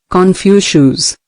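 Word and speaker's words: Confucius: Don't complain about the snow on your neighbor's roof, said Confucious, pronounced Confucious, when your own doorstep is unclean.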